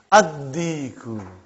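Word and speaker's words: الديك: How will you pronounce it? Ad-Diku. Why you did not pronounce Lam? Because it is sun letter.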